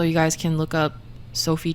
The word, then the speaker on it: Sophie: Sophie is Sophie, not.